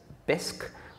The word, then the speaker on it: Bisq: One example is BISC, which is spelled B-I-S-Q.